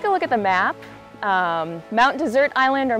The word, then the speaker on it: Mount Desert: Mount Desert Island or Mount Desert Island, it's spelled like desert. But if you come to Maine, you don't have to spend too long here to know it's not hot and dry like a desert.